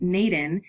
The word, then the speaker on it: n8n: NN, pronounced NATEN, is an open-source workflow automation tool.